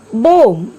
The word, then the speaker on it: bomb: See the word bomb. The spelling of the word is B-O-M-B. Here B is silent, so we have to pronounce the word bomb.